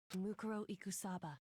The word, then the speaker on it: Mukuro Ikusaba: Makuro Ikusaba, I think that's how you say it. Mukuro Ikusaba.